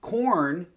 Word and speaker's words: Quorn: it's dive right in corn and yes that's how you pronounce their name not cure nor any other thing they're named after an